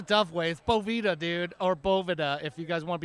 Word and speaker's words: Boveda: is it Bhavana it's it is Bovada but hey everyone says Boveda or it's a bunch of different things so okay we do the Tough ways Boveda dude or Bovada if you guys want